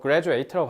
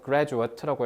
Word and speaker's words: graduate: gruat 얘들아 저 graduate라고 발음하면 안 돼. 명사형이라서 graduate라고 해야 돼요.